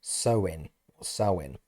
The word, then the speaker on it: Samhain: have Samhain actually despite its spelling it's actually pronounced as sein sa which is the name of the festival which happens on the 1st of November sewing is a sacred time because it is believed